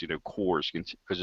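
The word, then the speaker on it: CORS: those CRS ones I I want to say cores but you know well you're correct you 100% correct that's how it's pronounced Kors is and it stands for continuously operating Reference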